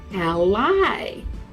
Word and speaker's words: ally: also has another meaning it's spelled the same but you say it like this Ally do you know what